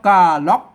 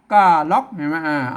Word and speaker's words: ก่าหล๋อก: บ่ เป็น ภาษา ล้าน อ่าน ว่า กล้า ล็อค กล้า ล็อค ภาษา ล้านนา ก็ เงา